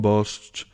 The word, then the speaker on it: Bosch: Como el anuncio, con Bosch, tu cocina es la mejor.